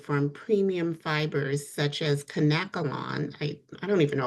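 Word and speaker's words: Kanekalon: premium fibers such as canacolon, I I don't even know if I'm pronouncing that right. Some people say cankolon, but I believe it's conkalon, which is a Japanese fiber, is a safer option.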